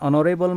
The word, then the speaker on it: honourable: using or before European next example is an honourable man what a hospital like in the previous